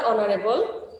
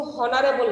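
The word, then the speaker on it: honourable: অনারেবল হ, এইচ এর বাংলা উচ্চারণ হচ্ছে হ, কিন্তু হনারেবল না, এটা কি অনারেবল। হাওয়ার হবে না, কি হবে? আওয়ার।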